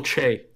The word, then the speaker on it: Che: I said last week I was going with Michael Shea, or I think that's how you say his name. But Michael Che. Che.